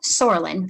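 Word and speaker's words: psoralen: of light combined with something called soralyn the silent p hence the name puva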